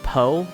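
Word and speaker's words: PoH: SAO Laughing Coffin account named Poe? Or it's technically pronounced Poo, but you know what I mean.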